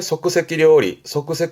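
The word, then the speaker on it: 即席: 발음은 소끄세키. 즉석이라는 건 보통 뭐 즉석카레라든가 말하자면 인스턴트죠. 그래서 뒤에 료리 붙여서 즉석 요리에 소끄세키 료리처럼 이 소끄세키라면 즉석, 인스턴트의 느낌이긴 한데요.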